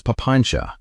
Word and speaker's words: papañca: The word he used was papañca — say it like "pa-PAN-cha."